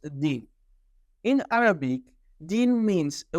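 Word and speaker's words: دين: all beings including themselves in the Arabic language the world for religion is pronounced de in Arabic de means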